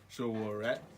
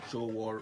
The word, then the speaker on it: Sowore: How do you pronounce Sowore? Sowore Sowore.